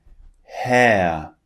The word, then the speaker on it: hair: But in British English, when the R comes at the end of a word, we do not pronounce it. So when the R is at the end, it just turns into a long vowel sound. In these two examples, we have far and hair.